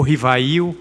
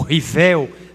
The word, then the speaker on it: Rivail: 1804, Hippolyte Léon Denisard Rivail, ou Rivail, ou Rivel, depende muito das pronúncias, que existiam fenômenos curiosos, que aconteciam em determinados salões, e se ele não tinha interesse de examinar.